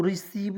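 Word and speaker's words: receive: आई व तो क्या पढ़ेंगे आर ई तो रिसीव इस से पढ़ेंगे ठीक है कि ई आई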